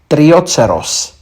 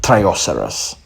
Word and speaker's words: Trioceros: last but not least trioceros not trioceros some Latin names have